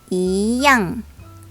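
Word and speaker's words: 一样: 하지만 이 뒤에 제4성이 올 경우에는 제2성으로 바뀌게 되는데요. 이때는 一样 이렇게 스무스하게 바꿔서 발음해 줘야 합니다.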